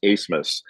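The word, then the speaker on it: Abmas: the same guard Max acemus spelled a b m a s and it's pronounced asmus uh but they actually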